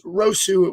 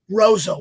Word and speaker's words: Roseau: I always said it was Rosu. What school did you go to? Roseau.